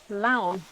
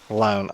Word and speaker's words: Laon: Oh, Laon. Laon. It's like the word loan, but the A and the O are backwards. It's like the word Leon, but with an A instead of an E.